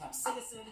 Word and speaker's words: capsaicin: And yes, I'm pronouncing it capsaicin because that's how Merriam-Webster told me to pronounce it, even though I've never once heard anyone in my life pronounce it that way.